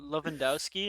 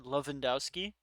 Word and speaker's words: Lewandowski: to talk about uh lovendowski and how you guys pronounced his name before you said Lewandowski with a V oh my God John